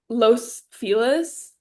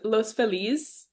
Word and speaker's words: Los Feliz: like everyone in the Latin community like don't pronounce it properly just because that is what like Los Felis is los feliz but everyone says Los Felis and then San Pedro San Pedro Pedro but